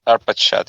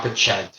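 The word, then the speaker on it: Arpachshad: We can hear pronunciation. Wait, is that a Russian person? Arpachad. 1 second. Arpachad. It's Arpachad. Yeah. Arpachad, okay.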